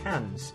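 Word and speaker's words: Cairns: cans or cans it's it's spelled cans but pronounced cans um and this is of course Great Barrier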